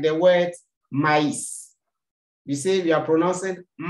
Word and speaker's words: maïs: The part of the words before the trema itself and the trema are pronounced separately. Example, maize, maize, sweet corns. In the pronunciation, I have to separate the two words. If the trema is missing, the word becomes me.